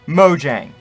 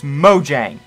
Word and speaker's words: Mojang: want to say it, I actually talked to a Swedish person and it's pronounced Mojang. Get it right, people. It's Mojang.